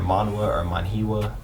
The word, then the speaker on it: manhwa: a Chinese manga, which I think that's pronounced manhwa or manhwa, one of those.